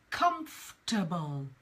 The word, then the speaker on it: comfortable: problems for some people now this is the word comfortable comfortable it is not comfortable it's not comfortable it's comfortable so let's look at how in pronunciation how it BtoB come boom comfortable comfortable so we drop that oh it's pronounced it is written come for table but it's comfortable now what I'm writing